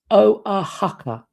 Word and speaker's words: Oaxaca: Oh, it's pronounced sorry, it is pronounced Oaxaca.